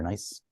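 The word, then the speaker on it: gneiss: The nieces are nice.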